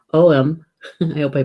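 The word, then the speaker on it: Ogham: There is a nut that has an ogum, not ogum, oem.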